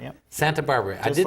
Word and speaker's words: Santabarbara: Santabarbara, yep. Santabarbara. I Just didn't like the city, I yeah. thought there was an extra little syllable in there, but there isn't.